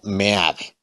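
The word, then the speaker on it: Meade: antonio mena o sea no digo mitad porque realmente se debe de pronunciar como me hace entonces aquí ese es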